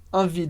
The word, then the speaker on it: envie: Então, j'ai trop envie de faire, a gente não pronuncia o P de trop. J'ai trop envie. Envie, de novo, eu pronuncio o I, mas eu não pronuncio o E.